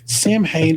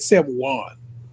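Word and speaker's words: Samhain: Sam I feel like they said Sam Juan. They pronounced it a different way. They pronounced it the Irish way, which is probably the way to pronounce it.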